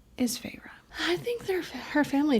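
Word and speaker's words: Feyre: I was schooled in her name pronunciation. It's Fra and it says it in the book.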